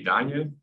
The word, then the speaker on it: Daniel: Hi, I'm Daniel, or German pronunciation would be Daniel, whatever you prefer.